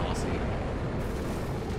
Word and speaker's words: Aussie: Yes, it's Aussie, not Aussie. It's spelled with S's, but it's Aussie.